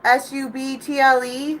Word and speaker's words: subtle: a subtle hint sub is it subtle how do you say that like a subtle hint is kind of like someone tells you on their face like it's a subtle hint they're not coming out like move they're being like right is it a silent b this is your this